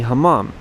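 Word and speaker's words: hamam: Uh this is what you could call a hamom. Uh just exactly as you would hear the name pronounced in Turkey.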